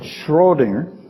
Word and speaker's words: Schrödinger: States Schrodinger was it I gotta say right Schrodinger you need more liquid to do that because you spit most of it out when you you're able to say his name correctly Schrodinger was attacking indeterminancy